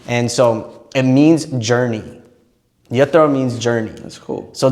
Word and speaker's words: Yathra: It's YATHRA, but I added a T, so YATHRA is how Yatra. Yatra.